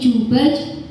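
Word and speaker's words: جيم: Jim itu dia nggak ada hamasnya, jadi nggak ada angin yang keluar. Kalau sama bacanya jadi jubaj, itu dia ada hamasnya, paham? Ya, kebanyakan dari kita juga suka baca jimnya seperti itu ya. Ada yang bacanya begitu, jadi jubaj. Ada? Ada? Ada? Latihan ya? Latihan ya Kang? Bacanya jadi jubaj. Coba. Jadi jubaj. Jadi jubaj. Ja, jangan ja, tapi ja. Kayak orang Jawa Barat bilang J itu gimana sih?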